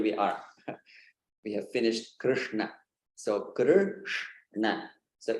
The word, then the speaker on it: Krishna: So this is the tongue movement for pronouncing Krishna.